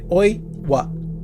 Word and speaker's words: Oiwa: Não, tens de sair por sílabas. Eles começam. Sabes que os japoneses fazem por sílabas. É Oiwa. Oiwa.